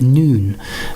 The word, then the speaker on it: Nun: So if we move on to the Hebrew association, this is letter is referred to as Nun, but it's spelled N-U-N, and it means fertility and growth.